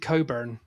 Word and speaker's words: Cockburn: But they pronounce it Coburn.